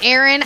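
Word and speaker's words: Éire: the irish but seriously aaron is how you say ireland in gaelic which is the the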